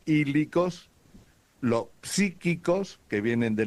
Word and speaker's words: hílicos: Están los hílicos. ¿Cuál? Los hílicos. Hílicos. Eh, estamos hablando ahora en griego, ¿okay? Están los hílicos con h. Se escribe con h primero y después latina. Ílicos, los psíquicos que vienen de la psiquis y los neumáticos.